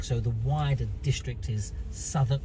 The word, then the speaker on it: Southwark: the wider district is southern spelt s-o-u-t-h south w-a-r-k uh walk let's pronounce southwark oh look at this